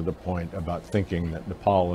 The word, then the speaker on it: Nepal: point about thinking that Nepal and Bhutan which incidentally he also mispronounced as nipple but our part of